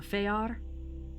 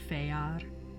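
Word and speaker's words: fëar: yeah it's called the feyar it looks like fear but it's pronounced feyar um the feyar are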